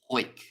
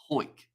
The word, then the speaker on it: Howick: And Howick pronounced Hoik. How is that possible? So it's Hoik.